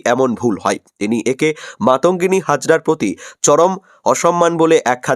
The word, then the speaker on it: মাতঙ্গিনী হাজরা: সম্পর্কে বর্ণনা দিতে গিয়ে ঘোষিকা মাতঙ্গিনী হাজরা নামটি ভুলভাবে উচ্চারণ করে বলেন বান্তাগিনী হাজরা এই ভুল উচ্চারণকে কেন্দ্র